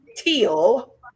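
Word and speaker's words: Thiel: teal t h i e l but it's pronounced teal you better go out there and Google him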